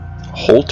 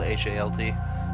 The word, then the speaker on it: Halt: Holt or Halt? It depends which version of it you're reading. But it's spelled H-A-L-T. Okay. Like that.